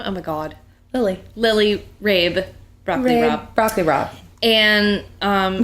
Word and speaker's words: Rabe: we can't go back her name is broccoli rabe and then some rando